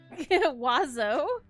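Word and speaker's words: oiseaux: still roll it yeah i know it's crazy wazzo yeah and it's spelt stupid it's o-i-s-e-a-u-x yeah can you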